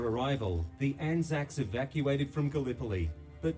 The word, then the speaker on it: Gallipoli: Gallipoli. That's how you say it.